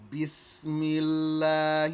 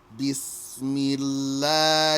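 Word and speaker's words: بسم الله: help also bismillah here you see this tall lanky s that's to represent the scene sharp whistle sound scene be smee lah here rock so don't pronounce that like whatever s you might pronounce in your language if it's not this this now you see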